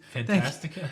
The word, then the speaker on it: Fantastica: Can you pronounce that, please? Fantastica?